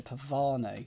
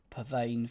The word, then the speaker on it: pavane: And I believe there's a dance called a pavan. Don't actually know how you say it, but I assume pav. Pavane feels wrong.